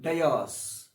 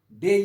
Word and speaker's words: dais: So DIS is dais, wrong. Day is correct pronunciation.